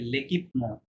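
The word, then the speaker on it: l'équipement: না, ওটাকে বলে লেকিপমো। এটা উচ্চারণটা লেকিপমো, না?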